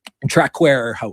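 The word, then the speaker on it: Traquair House: How do you pronounce it? Trackware House. Track House.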